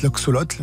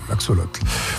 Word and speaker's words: axolotl: Alors, je le prononce tol, mais ça peut être l'axolotl, parce qu'il n'y a pas de à la fin. A-X-O-L-O-T-L, je pense que vous ne connaissez pas. Ouais, l'axolotl.